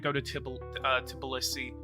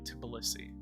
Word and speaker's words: Tbilisi: I really want to go to Tbilisi.